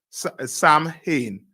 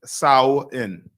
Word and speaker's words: Samhain: s-a-m-h-i-e-n just scroll up someone yeah a-n-a-i-n s-a-m sam hayne right but it's pronounced as sao in sorry it's it's a celtic holiday right come on slack traditions of sawan the evening before was known as all hallows